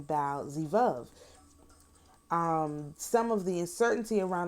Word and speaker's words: Baal-zebub: In the Septuagint, the Greek translation of the Hebrew Bible, that renders the name Baal-zebub from the Hebrew pronunciation Baal-zevub.